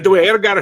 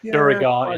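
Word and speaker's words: Duergar: So Dwergar is apparently the way that it's meant to be officially done. Duragar is another one.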